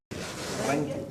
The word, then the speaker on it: Röntgen: ¿Cómo dices si lo pronuncia? Röntgen.